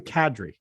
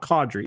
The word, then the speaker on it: Kadri: Nazem Kadri. It's not Kadri, it's Kadri.